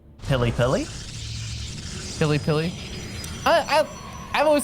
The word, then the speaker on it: PiLiPiLi: The way you're saying it, I swear it sounds like PiLiPiLi, like peel a banana kind of thing, which I'm like, what?